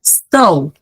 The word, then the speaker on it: stow: And then we also pronounce it like O. Bo, lo, mo, wo, so, to, blow, snow, stow. When you guys are on a plane, do they ever tell you to stow away your items? They're using this word, stow.